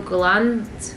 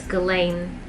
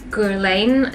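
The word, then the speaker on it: Guerlain: overpowering whereas i feel glam oh my god i'm saying it wrong it's galen i'm sorry gurlane and i'm probably still saying it wrong oh the sun's going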